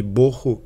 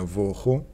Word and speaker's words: боху: как бесформенное и пустота и боху или есть другое произношение воху имеет значение как пустота